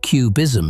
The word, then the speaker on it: QBism: And then there's QBism, and QBism is something else entirely. QBism, sometimes pronounced QBism, like the art movement, stands for quantum Bayesianism,